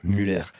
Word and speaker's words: Muller: Muller, Muller, attention à la prononciation. Muller. Ça fait très allemand. Ça fait très allemand, c'est très alsacien.